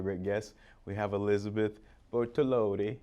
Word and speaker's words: Bortolotti: We have Elizabeth Bortolotti. Did I say it right? That's right. Bortolotti.